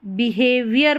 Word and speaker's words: behavior: Your generosity and respectful बिहेवियर, इसको बिहेवियर पढ़ेंगे, बिहेवियर, OR को अर करके पढ़ा गया है, बिहेवियर.